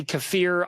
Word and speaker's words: kefir: Some people now say kafir. I'm not going to go out of my way after 30ome years of calling it kefir. However you want to pronounce it, you can pronounce it.